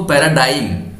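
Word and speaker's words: paradigm: इसमें देखो जी को प्रोनाउंस नहीं करना है, क्या बोलेंगे इसको, पैराडाइम. इसमें जी मैंने बोला ही नहीं, पैराडाइम. ये होता है स्टैंडर्ड, टिपिकल और परफेक्ट एग्जाम्पल.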